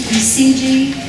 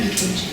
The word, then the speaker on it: EKG: It's supposed to be ECG. I guess an electrocardiogram started out as a German word, and it was spelled with a K. So in English, we spell it with a C, but we still say EKG.